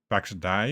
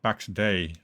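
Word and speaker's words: Pax Dei: I say it wrong, Pax Die. Is that how you pronounce it? And it is, as far as I can judge it, you can also build in that game. You can do resource gathering. Oh, Pax Day. Okay.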